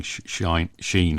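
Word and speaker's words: Schein: way of pronouncing it that happened to me last week with shine's model um and an indian friend was saying shine and i was just not registering sheen as i would say so anyway enough of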